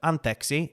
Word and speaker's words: anteeksi: I have also recently learned, so anteeksi is how you say sorry. Mm-hmm. I've recently learned that people will say anteeksi, like if they're trying